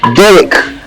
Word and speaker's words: Derek: Derek. It's Derek. It's spelled D-E-R-E-K, but it's pronounced the same as yours.